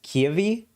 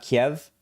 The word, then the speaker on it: Kyiv: news it's important to pronounce the capital as kiavi one syllable not kiev russian versus ukrainian pronunciation oh yeah i always